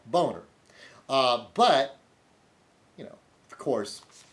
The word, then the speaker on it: Boehner: Boehner, Republican of Ohio. See, okay, his name clearly looks like Boehner, okay? B-O-H, capital B-O-H-E-H, B-O-E-H-N-E-R, Boehner.